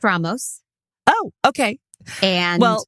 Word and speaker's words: Ramos: Like Anthony Ramos, like 30 seconds in and I'm leaving my husband already. Yeah. Which I fully support because I'd like to hang out with him. Yeah. It is pronounced Ramos.